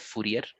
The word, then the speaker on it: Fourier: greenhouse effect fourier transform sorry if i'm mispronouncing it yeah fourier is correct absolutely all right so jean-baptiste joseph fourier alright is his full